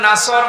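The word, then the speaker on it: نصر: যদি মুখটা গোল না করে সিন দিয়ে উচ্চারণ করেন, অর্থ হয়ে যাচ্ছে হে নবী যখন শকুন আসবে, ঈগল পাখি আসবে, তখন আপনি বিজয় পাবেন।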